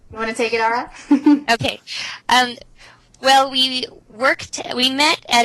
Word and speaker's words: Aura: I am Lithuanian, and I've met 2 or 3 other auras, or they pronounce it aura in Lithuanian. Aura. Aura, with the rolling R.